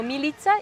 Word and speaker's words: Milica: De dónde eres primero mi nombre se pronuncia como militza y apellido es